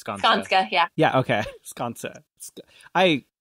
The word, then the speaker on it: Skanska: So what has been, I probably pronounce it, Skanska, right? Mm-hmm. I'm sorry, what was that? It's Skanska.